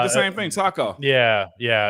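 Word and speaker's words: Tako: said the same thing Taco yeah yeah it's it's it's but it's not spelled Taco it's spelled t-a-k-o you can look it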